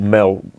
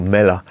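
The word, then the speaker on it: Melle: A fella called Leon Huyghe, he came to a place called Mel, I think it's pronounced, or Mella, which is in East Flanders.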